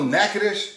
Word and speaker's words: Natchitoches: right there all right naked-ish in a silent t that's right like it sounds louisiana french influence we got a lot of solitudes running around and then you got the ch like in chaos not like in church's chicken all right